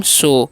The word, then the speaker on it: show: तो इसे साउ नहीं पढ़ना, OW उच्चारण जो है यहाँ पर ओ करना है। तो इसे क्या पढ़ेंगे हम? शो।